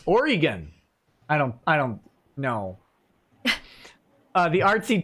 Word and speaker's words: Oregon: Also, Oregon is pronounced Oregon.